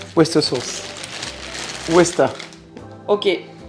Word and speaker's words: Worcester: West sauce Wester. OK. Ça s'écrit quand même worcester et il faut le dire wester.